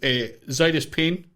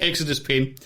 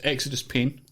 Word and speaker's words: Xidus Pain: Just kidding, Exodus Pain. What joke? You're right, it was Xidus Pain. It was, no. Aye. I think he's wrong. I think he's saying his name wrong. There you go. Well, according to him, the owner of the name, it's Exodus Pain.